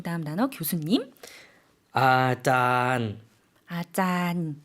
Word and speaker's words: อาจารย์: อาจารย์ 아짠. 좀 장모음으로 길게 발음해 주시면 되고요.